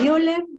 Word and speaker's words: Müller: Algunos dicen Müller, ¿verdad? Pero la mayoría pronuncian Muller.